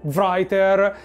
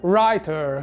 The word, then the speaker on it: writer: mi ha corretto perché ho detto writer mentre la pronuncia sarebbe writer No in cui la W non si sente però cioè ragazzi oh